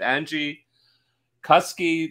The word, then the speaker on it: Angie Kuske: know i'm with with angie cuskey that rhymes with husky as i was i